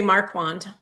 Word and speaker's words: Marquand: Is it Marcan? Marune. Um, I think they say Marquand. Marquant.